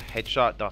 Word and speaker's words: HDSHT: a video over at headshot calm which is spelled the headshot without the vowels so it's HD sh t com where you can where